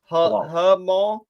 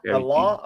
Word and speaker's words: halal: How do we pronounce this? Halal. Halal. Thank you, CT. Yep. Halal or halal?